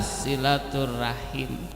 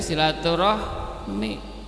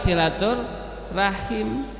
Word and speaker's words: silaturahim: Dengan demikian kalau kita menggunakan bahasa Arab yang lebih tepat sebetulnya adalah silaturahim. diucapkan dalam lidah bahasa Indonesia sehingga menjadi silaturahmi. Yang lebih tepat silatur rahim.